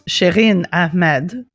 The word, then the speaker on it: Shireen Ahmed: Well, I mean, if you want to say it French, it's Shireen Ahmed.